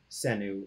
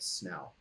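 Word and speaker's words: Senu: know that her name would not have been pronounced sin who would have been pronounce something like snow but that's just a minor thing about language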